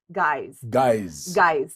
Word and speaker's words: GYZ: So it's pronounced guys.